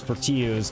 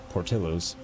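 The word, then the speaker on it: Portillo's: Portos always sounds good I always want to pronounce peros because of where we live but it's one of the random things in this area that the Double L is actually Portillos cuz it's not based from here and it's not a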